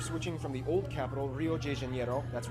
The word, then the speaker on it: Rio de Janeiro: Brasilia was actually built in 1960 as they were switching from the old capital, Rio de Janeiro. That's right, it's pronounced Rio it looks de like Janeiro, Twin Towers.